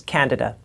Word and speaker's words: candida: I said, did you know that sometimes people have candida, and it's actually misdiagnosed? Excuse me, the pronunciation is candida.